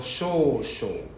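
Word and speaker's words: しょう: So you are missing the H. Your one is so. So show. SHO. There's a SH sound.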